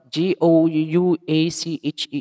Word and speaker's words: gouache: is the method of gowak and oppak watercolor painting the major effects of which are caused by the water white paper itself so sorry the pronunciation of this one g-o-u-a-c-h-e is gouache okay the gouache is